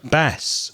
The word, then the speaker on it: bass: also has another meaning it's a type of fish with a different pronunciation bass or sebas which is